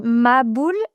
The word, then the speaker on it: maboul: On n pas le ha, on n pas le ha et donc on on dit ma boule.